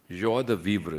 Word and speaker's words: joie de vivre: It's a joie de vivre. Joie de vivre. This, of course, French pronunciation.